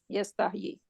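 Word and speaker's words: يستحي: Yastahi.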